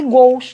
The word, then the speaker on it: gols: Então, tanto faz você falar goles, cuidado, não abram o timbre, senão fica goles, é outra coisa. Gois, não abram o timbre, porque senão deveria ter acento ali, né? É um ditongo aberto em palavra monossílaba, e não é. O timbre é fechado, e gols, que é o que a gente conhece, tá bom?